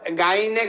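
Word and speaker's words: غ: হবে না গই পেশ গইন জবর গ হবে হবে এটা গা গা হবে না এটা হবে গ মানে এটা আকারের মত এটা গাইনের উচ্চারণ গা হবে না গাইনের উচ্চারণ হবে গইন জবর গ গাইন জের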